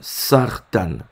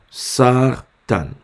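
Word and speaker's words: סרטן: se nomme ce signe en hébreu se nomme sartan ok sartan sartan ça s'écrit Sam mère rche tête noun ok sa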